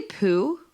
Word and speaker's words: Poo: And I don't know if you pronounced it right. Did you say poo?